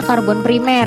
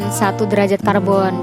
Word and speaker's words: karbon primer: 1 derajat karbon itu maksudnya dibacanya karbon primer ya, bukan 1 derajat karbon.